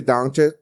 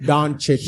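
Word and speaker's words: Dončić: When me and Tre did the podcast the other day, Luka Doncic, he literally, I still said it wrong. It don't matter though. I don't fuck it. Doncic. Say the man's name right.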